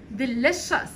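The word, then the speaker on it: delicious: لذيذ يعني ايه اصلا خلي بالكم السي والاي والاو احفظوا الحاجات دي يا ود هتسهل عليكم قوي في حفظ الكلمات التلاث حروف دول برضو لما بيجوا ورا بعض كده بنطق بصوت حرف الشين ديليشس ديليشس ديليشس يعني لذيذ لوك مش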